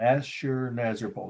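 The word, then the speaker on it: Assurnasirpal: n a s i r p a l asher nazarpal that's how it's pronounced killing lions the day uh sorry location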